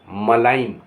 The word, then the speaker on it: malign: MALIGN मलाइन, मलाइन माने बदनाम करना। यहाँ जी साइलेंट होगा, मलाइन माने बदनाम करना।